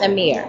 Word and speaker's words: AMXXR: All right, my name AMXXR, aka. But it's pronounced Amir.